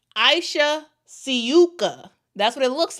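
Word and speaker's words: Ajša Sivka: It's just that it seems like the pronunciation for her name is Aisha Suka. I will pronounce it as that.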